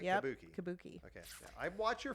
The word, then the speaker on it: Kabuki: Kabuki.